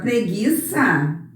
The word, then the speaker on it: preguiça: Aqui o G-U. Eu não falo esse U, não é? Eu falo o G e o I. O U eu não falo.